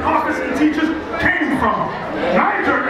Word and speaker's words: Niger: teachers that was called they pronounce Niger or ner n i g e r has anyone heard of